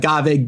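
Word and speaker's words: Ghave: Is it Gave or Gave or Gav? Is it one of those things? Am I saying it right? Yes, you nailed it. And to this day, I nailed it. People still don't know how it's pronounced, but you got it correct.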